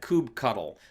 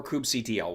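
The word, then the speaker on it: kubectl: for kubernetes called k-u-b-e-c-t-l i pronounce that cube cuddle which some folks find hilarious but it's cube cuddle or coop ctl whichever one you like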